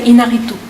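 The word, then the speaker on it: Iñárritu: In French we say Inarritu.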